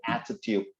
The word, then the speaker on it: attitude: I like the way you pronounce the word attitude. That's the way you pronounce attitude. Okay, there's a double T there. 拉长那个音 attitude, not attitude.